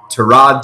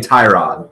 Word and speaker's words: Tyrod: Well, not the case yet because Cleveland has committed to Tyrod Taylor as the starter.